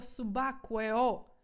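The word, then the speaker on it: subacqueo: останнє на сьогодні гарне слово всі разом хором вимовляємо це субакуео давайте разом субакуо субакуо Ну якщо Аква - це вода суб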